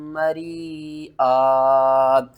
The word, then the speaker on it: مَرِيئًا: طِبْنَ لَكُمْ عَن شَيْءٍ مِّنْهُ نَفْسًا فَكُلُوهُ هَنِيئًا مَرِيئًا۔ یہاں سے ہجے شروع کرتے ہیں۔ ہا زبر ہا، نون